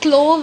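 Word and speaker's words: clove: तो इसके अंदर क्या बोल रखा है भाई, हमारे पास अनियन है, हमारे पास क्लव ऑयल है, हमारे पास क्लोव ऑयल नहीं होता children, the proper pronunciation is क्लव oil, vanilla essence है।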